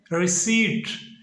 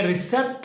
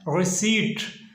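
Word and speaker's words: receipt: इसको इंग्लिश में पढ़ते हैं रिसीट, और इसमें तो पी भी आता है, जबकि इसको पी को हमने नहीं पढ़ना, हमने रिसेप्ट नहीं पढ़ना, इसको हमने पढ़ना है रिसीट, और इसमें जो पी है उसको हमने साइलेंट कर देना है।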